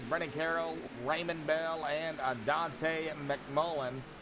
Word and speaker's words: Dante: Carroll, Raymond Bell, and Dante McMullen. I'm just going to call him Dante because I believe that's how you really pronounce it instead of Dante. I believe it's Dante.